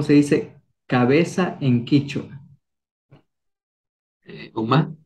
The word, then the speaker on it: uma: Uma, tal como suena.